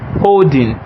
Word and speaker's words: HODL: So that in its own is the way of making money, and we call it holding, although it is spelled as HODL.